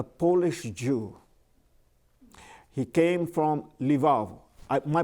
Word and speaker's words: Lvov: He came from Lvov. My pronunciation, so L-V-O-V, Lvov, okay.